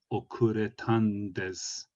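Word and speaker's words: 遅れたんです: In spoken Japanese, the no is often shortened to n. So you'd say densha ga okuretan desu. So it kind of fixes itself to the last syllable of the previous word.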